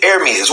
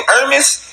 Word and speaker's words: Ermias: So I start asking myself, who the fuck named their kid Ermias?